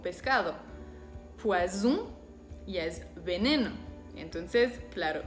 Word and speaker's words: poison: Por ejemplo, saison, poison.